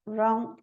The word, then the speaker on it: wrong: Rap, wreath, rack, wrong, right. Então, essas letras, elas são empty, são vazias porque elas não têm som nenhum.